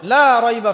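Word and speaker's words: لا ريب: এখানে লায়ের উপর কি মদ আছে? লায়ের উপরে কি মদ আছে না? লাকে টানতে হবে না? কি বলেন? লাকে টানতে হবে না? লাকে টানতে হবে, লা রাইবা ফি, লাকে টানতে হবে।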